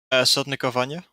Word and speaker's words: Sotnikovanya: How do you pronounce that name? Sotnikovanya.